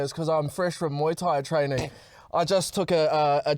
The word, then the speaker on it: Muay Thai: And you're like, did you say Mai Tai? Oh, Muay Thai or whatever. How do you pronounce it? Muay Thai. Muay Thai? Yeah, Muay Thai.